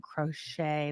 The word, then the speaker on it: crochet: think she would approve you don't pronounce the T in crochet that's right oh was